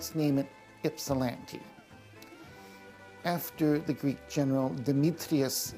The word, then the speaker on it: Ypsilanti: In 1880s, the post office here in Ypsilanti, it's Ypsilanti, not Ypsilanti, because in the Greek, the Y is pronounced like an I.